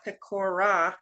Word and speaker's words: Pecora: My friends call me Pico because in the Army, Pecora was 3 syllables and it was too difficult.